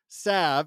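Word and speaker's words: salve: In my experience, sav has been most commonly pronounced sav and he puts savv in quotes with a short vowel sound shared by the a in apple and a very silent l.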